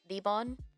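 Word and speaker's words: リボン: It's just rebon like like pronouncing it in Japanese.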